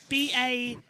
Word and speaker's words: Bastard: Yeah, that's going to be really hard because it's spelled, as you can see, B-A-S-T-A-R-D, but it's not pronounced how it is. It's Erwan Bastard.